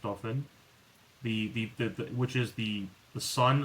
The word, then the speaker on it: Dauphin: That's pronounced Dauphin.